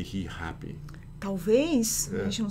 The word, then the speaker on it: Rihappy: But notice the pronunciation is pretty unpredictable. Mm-hmm. How are we going to know that this is going to be happy and not happy, for example? Exato. But every Brazilian will say Rihappy.